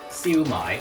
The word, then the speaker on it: siu mai: cat really sucks John how are you supposed to actually say that word see you mine there you go that's how you say it I'm a pretender I